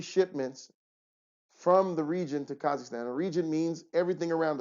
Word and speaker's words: Kazakhstan: I talk to her she doesn't say Kazakhstan she says kazaka Mak Maka stand she can't get it right it's okay love you